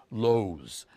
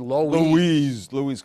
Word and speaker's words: Loew's: Now, the right way of pronouncing it, the Midwest, they would pronounce it Loew's. But we said Loew's Kings.